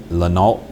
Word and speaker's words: Lanaute: The last one is Shedrick D. Lanault, and it's spelled Lanaute, and he's a black male.